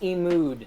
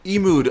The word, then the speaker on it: eMud: So these are concept art from the game eMud, right? Pronounced eMood. eMood. Oh my god, I'm terrible at this. Okay, eMood. Mood.